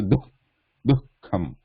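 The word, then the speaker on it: दुःखम्: Here there is a Visarga. Dukh. You should say Dukkham. Dukkham. Dukkham is a half Visarga actually, because there is a Kha afterwards. So we are not pronouncing this Visarga completely here, like Duhu.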